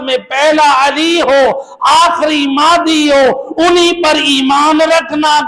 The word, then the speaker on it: مہدی: جو القابات ہیں، مہدی، بعض لوگ تلفظ کرتے ہیں بلاتے ہیں بچوں کو، جوانوں کو مہدی بلاتے ہیں، بعض لوگ بعض علاقوں میں مہندی بلا دیتے ہیں، تو صحیح لفظ جو ہے وہ مہدی ہے۔ مہدی یعنی جس ذات